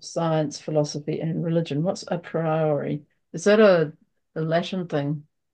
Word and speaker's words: a priori: Like I don't it's know if it's just, not even pronounced like a priori, like I think it's a priori.